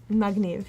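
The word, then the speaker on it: מגניב: Magniv, yes.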